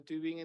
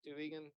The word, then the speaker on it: Tübingen: Colaboración en un programa con la Universidad de Tübingen en Alemania. Tübingen, este sí sabe pronunciar.